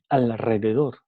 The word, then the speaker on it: alrededor: un sonido L Y a pesar de que está escrito con una R normal, no con una doble R, se pronuncia como una R múltiple alrededor.